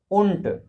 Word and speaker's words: und: Und means and. Okay, now you understand, and has derived from the word und, but D will be pronounced as t.